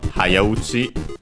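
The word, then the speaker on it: はやうち: Yeah, here we see again our title, Hayauchi. By the way, unaccented, while Haya on its own accent on the first syllable, even though it's a prefix, so it doesn't matter.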